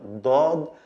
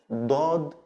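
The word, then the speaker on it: ضاد: It's also from the throat, like the D, but it's a strong D with open throat, like dod, dod, dod.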